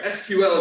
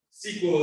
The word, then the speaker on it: SQL: dilbert then um sorry sql is the way the pointy haired boss sort of people manager management pronounces this uh sequel is the way that engineers perhaps um so you can i can tell like i know just from how people pronounce things what sort of background they on on this language and there's no wrong